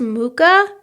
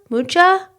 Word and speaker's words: Mucha: kind of a uh is it pronounced mooka mucha you know the really 30s retro artist what's his name you don't know who I'm talking about no I don't think it's moocha m-u-c-h-a -cha mucha that would be mucha yeah